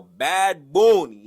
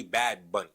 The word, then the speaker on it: Bad Bunny: Now, Bad Bunny is going to be the Super Bowl halftime performer. Now, you can't say Bad Bunny. It's Bad Bunny, okay?